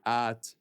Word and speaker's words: hâte: Juste la prononciation, pas de H. J'ai hâte de regarder le film par exemple.